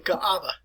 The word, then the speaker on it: Kaaba: but it is pronounced so draw out your a with that not kaaba it's ka'aba and in